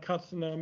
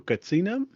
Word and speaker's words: Katsinam: So let's Gerald go back and talk about Katsanam, and you can correct me on my pronunciation and tell us a bit about what that is. I assume you're referring to Katsinam?